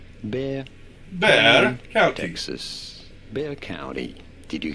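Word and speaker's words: Bexar County: Just ignore completely the X. Pretend it's not there and you'll be perfectly fine. Bear. There we go. Bear. Bear. Pretty straightforward from there, right? Bear Bear County, Texas.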